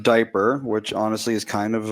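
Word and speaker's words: Dyper: out to diaper diaper it's pronounced diaper which honestly is kind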